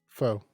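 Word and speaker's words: faux: you ready ready ready how do you say i'm a spell it f a u x fo okay james oppa okay all right you gotta finish it off because so many people say fox and i was like it's fo bro how do you spell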